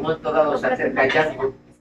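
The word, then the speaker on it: Django: dado se acerca a yango y le pregunta cómo te llamas y jango y dice me llamo jango DEA d J a n g o y dice la d no se pronuncia en muda y y este señor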